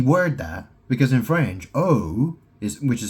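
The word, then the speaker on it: eau: You know, that's a really tricky word there because in French O is which is spelled E A U.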